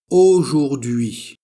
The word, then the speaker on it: aujourd'hui: Alors la prononciation o, o, ou, ou. Aujourd'hui.